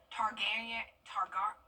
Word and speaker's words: Targaryen: How do you pronounce that? Targaryen.